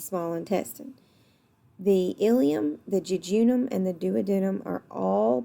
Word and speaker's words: jejunum: your jejunum okay or judging them and the pronunciations are different I say jejunum but again this is not the southern version of anatomy so the jejunum is